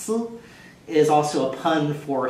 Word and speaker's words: 丝: of a thread, which in Chinese is sometimes pronounced si, is also a pun for thoughts or melancholy or love longing.